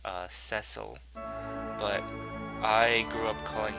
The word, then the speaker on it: Cecil: On that note, technically the protagonist's name is pronounced Cecil, but I grew up calling him Cecil, so that sounds weird to me.